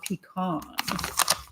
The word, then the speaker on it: pecan: It has chocolate, caramel, and pecan flavors, or pecan, for those of you who say it like that.